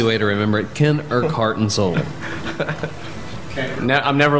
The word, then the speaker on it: Urquhart: It's only 2 syllables. I go with what was it, Urquhart? Urquhart. Urquhart. Yeah. Oh, that's horrible. And so, dude. The way you say his name irks him. And it hurts his heart. Yeah. Irk heart.